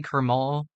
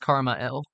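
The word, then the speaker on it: KrmaL: L, which I know a lot of people say Kermal. It is actually pronounced Karma L for some reason. Uh so Karma L made a remake of High Life.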